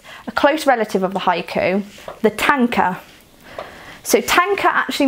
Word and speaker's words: haiku: looked at haikus and haiku is a japanese form of it's haiku there's no s on it haiku is a japanese